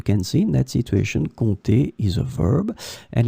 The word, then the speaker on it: compter: In this lesson, we will see together two words that are written differently but pronounced the same way. Compter, compter.